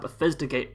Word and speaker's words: Bethesda: really, which is the Fallout 76 panels at Bethesda Game Days.